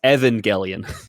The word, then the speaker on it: Evangelion: actually trying to correct you in Evangelion it's Evangelion Evangelion Neo Genesis Evangelion neo genesis I love